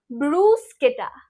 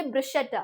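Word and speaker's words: bruschetta: yourself या so here the H makes a के sound how इट is pronounce ब्रूस्केटा ब्रूस्केटा right so don't blame yourself for that blame the Italians what do you mean to से ब्रशेटा right ब्रूस्केटा then is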